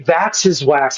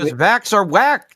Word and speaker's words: Vax Are Whack: Because every time you say my name, Vax are whack, dude. You didn't know that. Vax are whack. As in vaccines are whack.